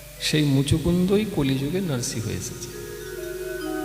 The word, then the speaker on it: মুচুকুন্দ: আমি দেখতে পাই না, ভালো করে উচ্চারণ কর। হ্যাঁ ঠিকই বলেছে। মুকুন্দ বললি মোচকুন্দ বললি, যাই হোক ঠিকই বলেছে।